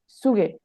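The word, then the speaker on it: Züge: হুন্ডার্ড সোয়ান্সিস ইউগে না এটা তো জেড জেড তো জেড উচ্চারণ হবে সুগে সঠিক দেখেন এখানে ফ্যাগেন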